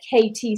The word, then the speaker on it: KT: So it sounds like a kitty, right? But it's a KT session, a knowledge transfer.